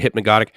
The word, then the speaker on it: hypnagogic: In other words, you pronounce neither of the G's is soft. Is it hypnagogic?